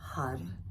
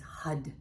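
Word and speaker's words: Har: to chant the Mantra HUD h-a-r which is pronounced with a d so it's HUD HUD HUD just so that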